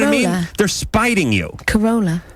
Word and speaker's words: Corolla: But then when there was opportunities to use an A, like Corolla, it would become Coroller. See what I mean? They're spiting you. Corolla.